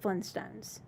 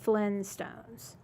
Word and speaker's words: Flintstones: I just know I I always mispronounced it I said Flintstones I didn't say that tea I said flinstones yeah I think we